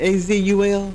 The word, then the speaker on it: Azul: Would you please explain to our folks here, do you pronounce the name by spelling it A-Z-U-L? It's Azul. Azul, that's what I thought.